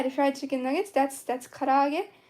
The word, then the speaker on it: karaage: Yeah, the fried chicken nuggets, that's karaage. So you would spell that as Karaage. Kara-age. And that's karaage, kinda.